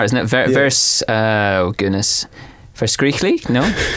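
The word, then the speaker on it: verskriklik: it verse oh goodness vers Greek Le no you must really push the first Crick that's good a we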